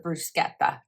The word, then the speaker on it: bruschetta: favorites and this is called balsamic bruschetta or brusqueta depending on how you say it. I love bruschetta. I call it bruschetta.